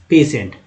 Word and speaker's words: patient: अब एक और देखते हैं PATIENT, उच्चारण है इसका पेशेंट।